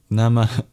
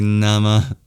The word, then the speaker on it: Namah: It's a little exhale at the end. Nama, Nama. All together, in precise Sanskrit pronunciation, this mantra is Aum Chandraghantaya Namah.